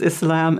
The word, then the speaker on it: Islam: the partisan yeah so a Muslim not a Muslim or we have some a different pronunciations but the most correct is Islam and Muslim Muslim yeah we're and now